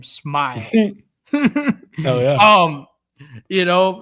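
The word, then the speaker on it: Smael: Smile Mundon, dude. That's how you say his name. Smile.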